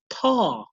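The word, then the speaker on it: ط: this one is called ta, ta, ta, and it's made with a slight puckering of the lips, pressing your tongue on the top of the front teeth.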